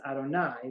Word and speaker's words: Adonai: why it's interchangeable so that's where Jehovah comes from but that's not the way it's pronounced in synagogue the yud is pronounced as an Al and the he is pronounced as a that's just not a mistake because right the Y and is read as Adonai which begins with the letters Al and God's name is not pronounced in the same way that it is written however in the world to